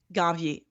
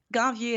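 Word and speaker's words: Ganvié: Ganvier. Okay. Ganvier is spelled G-A-N like Nancy, V-I-E like the Beyonce E with the accent at the end.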